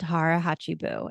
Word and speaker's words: Hara Hachi Bu: The older generation of this island community in Okinawa practices something called Hara Hachibu, Hara Hachi, Hachi, and then Bu, Bu.